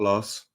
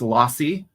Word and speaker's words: Losse: So for the benefit of our British UK audiences, listeners, tell me who is Los. Um oh so it's actually pronounced lossi but that's okay.